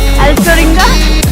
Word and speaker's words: Alcheringa: Alcaringa.